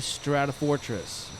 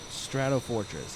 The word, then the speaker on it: Stratofortress: it is the B-52 strata Fortress strato Fortress yes that's how you pronounce it um it's it's a